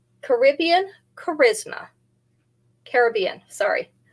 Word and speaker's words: Caribbean: I did actually look up how to pronounce that, and that is how the proper pronunciation is. They know you're a tourist if you say Caribbean. Isn't that interesting? I would have thought it was the other way.